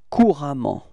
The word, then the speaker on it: couramment: And it will transform into couramment, repeat, couramment, okay? So actually the same pronunciation, but then you've got to write this A for this case, okay?